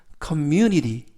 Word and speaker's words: community: 이번 표현은 community, community, community 라고 발음하시면 되겠고요. 이때에도 단어가 약간 길어서 강세를 말씀드리면 mu에 있습니다.